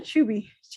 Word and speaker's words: chibi: name chubby is it chibi or chewbee it can be pronounced either way okay excuse me all